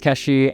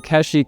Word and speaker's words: Keshi: questions with Playboy today so keshi comes from the way that my childhood friends parents pronounce my name which is they're from Japan so they pronounce it working as an oncology